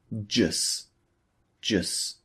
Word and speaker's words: just: So it sounds like jus, jus. So the T at the end of just is omitted.